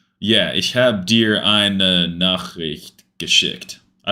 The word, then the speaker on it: Nachricht: With the R after a CH is difficult. Nachricht.